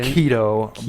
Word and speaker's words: Chaeto: So I got some Chaeto it's pronounced keto, by the way.